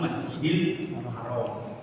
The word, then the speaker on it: Masjidil Haram: Ya, kalau dalam penulisan secara Latin Masjid Al-Haram bacanya disambung Masjidil Haram.